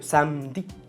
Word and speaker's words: samedi: Cuando lo encontramos en posición intermedia en las palabras, como por ejemplo samedi, el día sábado, samedi, sí se escribe samedi, pero yo pronuncio samedi, como si fuese solo la M.